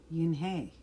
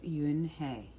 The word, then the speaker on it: Unhei: new here what's your name a girl asked yin hey said and hey the girl asked scrunching up her face some kids chanted no no yun hey corrected it is spelled u-n-h-e-i it's pronounced yuen hey oh it's said a boy like